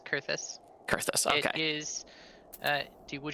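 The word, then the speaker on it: Coerthas: I've been pronouncing it Caerthus. Yep, it's Kurthus.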